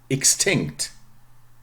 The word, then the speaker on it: extinct: the other way around voiceless sound following its ex yeah extinct extinct okay because there's